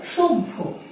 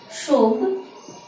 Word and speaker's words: সভ্য: যেমন ভয়ের সাথে যখন জফলা বসে তখন প্রথমে বয়ের উচ্চারণ আসে, পরবর্তীতে ভয়ের উচ্চারণটি হয়ে থাকে। যেমন সভ্য, উচ্চারণটি কেমন হবে? সভ্য, সভ্য।